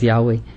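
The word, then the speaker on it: Yahweh: yah la llave es la pronunciación correcta es yahwe pero igual y no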